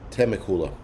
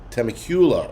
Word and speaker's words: Temecula: Temecula. Okay, thank you. I am so bad with fucking pronunciations. But anyway, thank you guys. Temecula. Temecula.